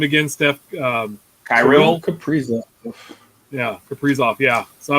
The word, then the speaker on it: Kaprizov: Kaprizov.